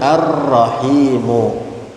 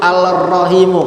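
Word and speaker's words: الرحيم: Jadi kita bacanya ar-rahimu. Lamnya kemana? Nggak ada, nggak kebaca, tapi tulisannya. Jadi nggak bisa tuh orang Arab dari aslinya nggak bisa dipaksain al-rahimu, nggak bisa, nggak mau dia, nggak enak.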